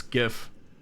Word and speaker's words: GIF: GIF good M melon you've said it right it's GIF you say mug Jose